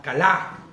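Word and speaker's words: כלה: Fíjate, vamos a analizarlo, porque dice, la palabra que se ocupa para terminado, en el original es la palabra kalá. ¿Ok? Con acento en la A, kalá.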